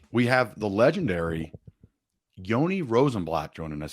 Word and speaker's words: Yoni Rosenblatt: to say all right we have the legendary Yoni rosenblatt joining us how you doing buddy I'm doing great I'm thrilled you pronounced my name properly thank you for that